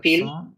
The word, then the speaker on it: filles: আছে আর কি বলছে Trois garçons et neuf filles. নফ feel না ডাবল এল ই সাইলেন্ট হ্যাঁ জাস্ট ফি হবে Filles.